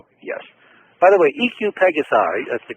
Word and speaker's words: EQ Pegasi: By the way, EQ Pegasi, that's the correct way to pronounce it.